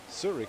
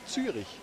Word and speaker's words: Zurich: So Zurich, for instance, would be the very well renowned English pronunciation of Zürich, which would be the German pronunciation.